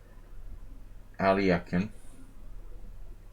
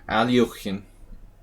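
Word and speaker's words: Alekhine: Transposing from the Pierce to the Alyekin, I guess. Alyekin. Alyokhin. We've got to pronounce things correctly.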